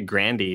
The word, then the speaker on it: Grande: It's actually Grandy. Did you know that? No, it isn't. Mm-hmm. It is. It's Italian.